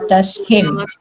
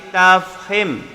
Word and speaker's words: tafkhim: Ra tashim. Bukan tashim tapi tafhim. Tafhim.